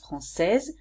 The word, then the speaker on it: française: So français, or française here is the adjective, and here I added a E and I pronounce it differently, française, because it relates to my mother, which is feminine.